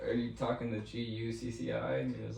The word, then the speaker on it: Gucci: over this I said it's pronounced Gucci and he was like oh goci goci Goosey but anyway